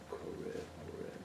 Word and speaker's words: Horeb: Is it pronounced right? Horeb, yeah.